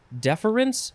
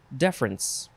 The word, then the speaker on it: deference: next word deference uh you can have three syllables or two syllables deference or deference noun from 1660 respect